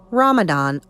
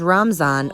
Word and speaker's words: Ramadan: Ramadan, also pronounced as Ramzan or Ramazan in India, is the 9th month of the Islamic calendar and a sacred time of fasting, prayer, reflection, and community.